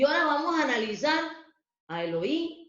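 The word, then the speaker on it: אֱלֹהִים: al pueblo de Israel, usa la palabra que se pronuncia en hebreo Elohim.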